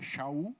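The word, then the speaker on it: שאול: Mas aqui, talvez a pronúncia de Saulo fosse mais difícil, para quem não fosse hebraico, é Shaul, aí falava Paulo.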